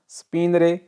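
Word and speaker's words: spegnere: Number 3 स्पिनरे बंद करना, स्पिनरे, ये जी है, ये साइलेंट है, ठीक है, स्पिनरे बंद करना।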